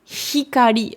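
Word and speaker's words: 光: D'où l'importance de bien prononcer votre H, parce que sinon, c'est le même mot. Donc, ikari avec un I, c'est la colère. Hikari avec un H, c'est la lumière.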